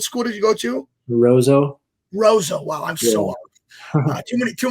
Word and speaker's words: Roseau: state tournament um you played for i'm gonna pronounce wrong i always said it was rosu what school did you go to roso rosa wow too many too many parks that